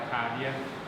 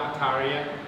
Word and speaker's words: atadia: Now, if you go to a place like Suhum, they will pronounce the same word like ataria, ataria, right?